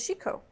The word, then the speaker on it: Chicot: And the jester's name is Shiko.